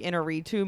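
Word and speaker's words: Iñárritu: a hot take here I don't really like inner retoo movies is that how you pronounce his name I call him AGI all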